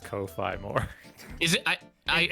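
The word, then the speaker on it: Ko-fi: In Japanese, the romanization is Ko Fi and it's pronounced Kofi. Okay, cool. Then that's the right way to say it.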